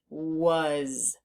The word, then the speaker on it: was: A and the S the a is making the sound uh uh as if it were a u but it's not a u it's an A so we need to learn that part by heart and the Z or the S is making a z sound which we haven't learned